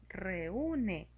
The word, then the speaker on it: reúne: Re tiene una vocal abierta E, U es una vocal cerrada, le ponemos la tilde en la U para que tenga fuerza al pronunciar reúne y la separamos.